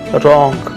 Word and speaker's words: wrong: WRONG रॉन्ग, यहाँ W silent है.